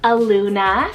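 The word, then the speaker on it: Aluma: a literary name meaning glory of the father a Luna spell a-l-u-m-a Luna this one's both a Polynesian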